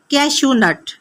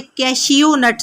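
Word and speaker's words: cashew nut: वे काजू को इंग्लिश में कहा जाता है कैशू नट। कैशू नट। इसे आपने स्पेलिंग्स के हिसाब से कैश नट नहीं कहना बल्कि यह है कैशू नट।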